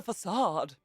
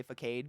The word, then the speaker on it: facade: kneecaps this is a facade you know sometimes i actually say focade because that's how i learned it in my head when i read it